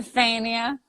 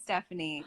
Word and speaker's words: Stefania: Do people butcher your name? Yeah. Really? What do they Stephanie. say? Stefania. Stefania. I could see people saying Stephanie because they Yeah. just are stupid and say it.